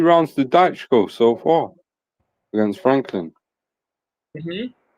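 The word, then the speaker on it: Dychko: All right, meanwhile, we still have the Jermaine Franklin and the, how do you pronounce his name again? Dhychko? Dhychko. Daichko.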